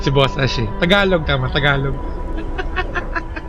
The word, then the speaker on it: Tagalog: It's she's Tagalog or kay Tagalog.